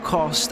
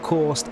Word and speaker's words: Cost: It's Milo Cost as in lost, not coast as in most, and definitely has one of the sexiest voices you'll ever hear on Twitch.